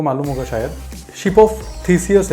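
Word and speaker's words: Theseus: मैंने प्रोनाउंसिएशन देखा हुआ है, इट इज़ कॉल्ड थीसियस।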